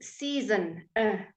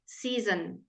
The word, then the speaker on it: season: And there we do pronounce both syllables, by the way. It's only in 3 syllable words that you can leave the out, okay? 3 or more syllables. We tend not to leave it out in 2 syllable words.